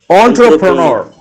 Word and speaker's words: entrepreneur: ON hyphen TRUH hyphen PRUH hyphen NUH. How is it pronounced? Yes, it's correct, Niranjan. Yes. It's entrepreneur. Entrepreneur. Entrepreneur. The last word we use is H. It's not R.